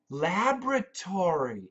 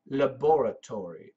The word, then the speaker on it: laboratory: Laboratory. In the UK, they say laboratory. In America, laboratory.